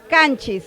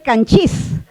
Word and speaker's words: Canchis: Ahí vamos a ver acá Canchis. La segunda sílaba es abierta. La segunda sílaba es cerrada. La segunda sílaba es cerrada. Debería de jalar el acento. Debería ser canchí. Pero no es canchí, es canchis.